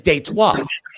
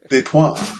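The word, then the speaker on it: Détroit: The French pronunciation of Detroit is Detroit. Detroit.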